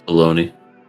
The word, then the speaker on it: bologna: this the big bologna that's baloney yeah but it's spelled like bologna I always got that